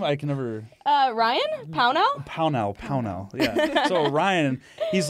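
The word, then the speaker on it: Pownall: Pownell, yeah.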